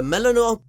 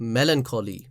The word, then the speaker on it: melancholy: you thought a card school was a melanoma okay wait i don't know how to pronounce this word let me google that [